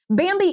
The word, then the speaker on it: Bambee: Bambi is an HR platform built for businesses just like yours.